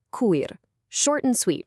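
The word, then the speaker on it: քույր: It's pronounced kuyr.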